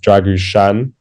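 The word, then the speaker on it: Drăgușin: who's the Romanian who apparently has pronounced dragu Shan with that s Accent on the S but um I don't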